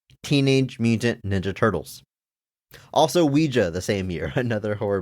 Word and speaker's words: Ouija: ends with an a what do you mean Ouija it's not an it's not an English word o u i j a that's pronounced Ouija Ouija those are Ouija boards I'm